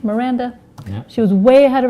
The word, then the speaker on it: Miranda: often called my sister's name joy and yeah melinda and merlinda and mindy mandy whatever started with